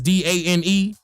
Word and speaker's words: Dane: when I was younger people used to piss me off calling me Dana not not no pun attended but I used to get my name wrong cuz mine is d a n e uh Dana my name is Dane bro D like clearly but see them the